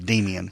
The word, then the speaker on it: Demian: Not Damien, but Demian.